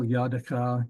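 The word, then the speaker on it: יד: and there's another example Yad Yad is the hand of you your hand Y and it's got this me there so you know it's a yah not a yo all right and special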